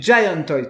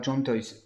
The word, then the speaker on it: Giant Toys: Giant Toys, pardon, pas John Toys.